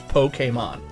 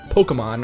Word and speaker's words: Pokémon: That's the correct pronunciation is Pokémon. Like, not Pokemon or Pokemon.